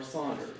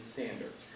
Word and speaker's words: Sanders: i ask you if you say sanders or saunders well according to a very very reliable source the great grandson of the founder the correct pronunciation is sanders the mispronunciation jack sanders believes stems from